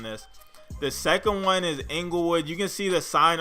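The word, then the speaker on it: Inglewood: know what that is Englewood is like a neighborhood and they say at least in California I know English is but it's not spelled E and G eliwood it's actually spelled with the I so Englewood is located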